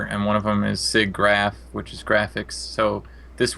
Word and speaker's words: SIGGRAPH: Is that how you pronounce it? Yeah, SIGGRAPH.